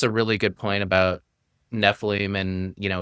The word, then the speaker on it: Nephilim: the show, we know it's supposed to be Nephilim, but we're from New York and New Jersey, we're just going to go with Nephilim.